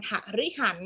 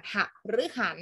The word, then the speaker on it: หฤหรรษ์: ใจ นะ คะ หฤหรรษ์ หฤหรรษ์ เรา ไม่ อ่าน ทะ ริ หัน นะ คะ เรา อ่าน หฤหรรษ์ หฤหัส ปลา ว่า ความ ยิน